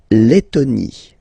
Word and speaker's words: Lettonie: La Lettonie. So remember, when you've got this and then a double letter like that, T, T, okay, then you will have to open your and it will become le, Lettonie.